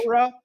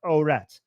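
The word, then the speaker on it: عورت: Okay, so so Arabs usually don't pronounce the last letter with a T sound.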